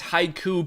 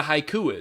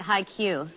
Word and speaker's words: haiku: But it's just crazy that the host doesn't even know what a haiku is. Don't ask Travis. He pronounced it highq.